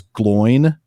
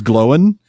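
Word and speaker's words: Glóin: I used to think that it was glowin. Uhhuh. But it was glowing.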